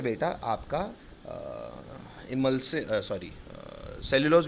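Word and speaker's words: emulsin: इमल्सिन कहते हैं कई लोग, पर इमुल्सिन बोलना तो स्पेलिंग याद रहेगी। क्या कहलाता है एंजाइम? इमुल्सिन। कोई पूछेगा तो इमल्सिन कहना, बाकी याद रखना इमुल्सिन।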